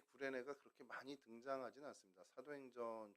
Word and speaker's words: 구레네: 이 구레네라는 단어는 사이레네, 오늘날의 이제 발음으로는 사이레네라고 하는데 헬라어로는 퀴레네라고 이제 발음합니다.